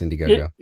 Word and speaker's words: Indiegogo: yeah, it's Indiegogo. I'll make sure I was pronouncing it right.